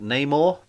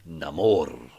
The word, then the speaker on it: Namor: gave us the first look at neymore uh or as they pronounce it in the film Namor but they've changed Neymar